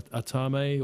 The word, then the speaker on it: athame: Is it athame or atame or atame? Athame, which is a voodoo knife.